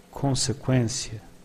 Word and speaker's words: consequência: As you can see, in Portuguese, the U after the Q is not pronounced, but we have some words with Q, Q, U, where the U is pronounced.